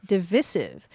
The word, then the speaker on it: divisive: s i v so there's more than one pronunciation of the word yes okay and what do you say I say divisive divisive MH and so does